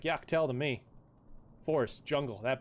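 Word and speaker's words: Yak T'el: I'm pretty sure it's pretty sure it's Yak's tail, Inspector. No, guys, it's Yaktel.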